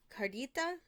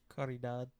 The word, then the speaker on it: Caridad: I think it was Cardita. Caridad. Caridad.